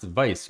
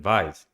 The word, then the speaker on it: Vyse: It's pronounced VYSE rather than VYSE.